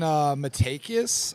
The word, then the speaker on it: Matakias: But one's Ian Matakias. That's how you pronounce his last name.